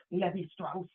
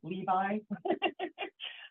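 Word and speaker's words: Lévi-Strauss: It's just he's super French, so his name gets pronounced Levy Strauss as opposed to Levi.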